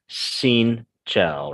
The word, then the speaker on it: xin chào: push your mouth forward, but we don't have to push your mouth forward when we say the word chào in Vietnamese. Okay, so just again, it'd be xin chào, right?